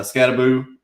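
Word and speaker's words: Skattebo: Uh, Scataboo.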